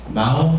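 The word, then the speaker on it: 耄: 이게 마오 하면은 고양이죠. 중국말로 모질도 할 때 모두 마오라고 해요. 질은 티에 이렇게 발음되거든요.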